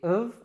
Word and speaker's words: of: Now, natives don't usually pronounce it in this way. We would say simply of or a.